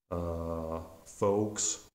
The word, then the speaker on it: folks: a difficulty with like folks with an with a mute L sound where L is not pronounced or the word femur